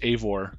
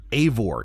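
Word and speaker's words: Eivor: Bobby I believe it's a VAR a VAR it's not spelled that way but that is how you pronounce it and these Viking names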